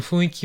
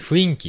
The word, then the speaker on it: 雰囲気: 思いますけど、この雰囲気を、え、雰囲気って読んだり、ま、言ったりしてしまう日本人本当に多いですね。